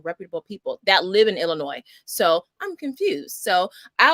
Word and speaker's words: Illinois: Because I've heard it both ways from reputable people that live in Illinois. So I'm confused. So I like to say Illinois, because to me it's French, so the S is silent.